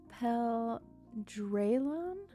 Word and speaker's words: Pel Drealon: It's supposed to be Pel Drealon.